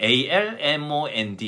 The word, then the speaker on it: almond: 4에 먼 됩니다 & 건데 애리 있기 때문에 almond 입니다 에리 중간에 들어가 있기 때문에 우리나라 사람 입장에서는 에리 들어가 있으니까 아몬드 라고 읽기 말해 됩니다 그러나 m1 됩니다 mn 두번째